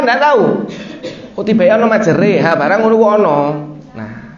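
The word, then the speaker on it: مجريها: Majroha. Kok ora majroha? Ternyata dibaca majreha. Namanya bacaan imalah. Oh, ono ya. Awalnya kan enggak tahu. Kok tiba ono majreha, barang ngono kok ono.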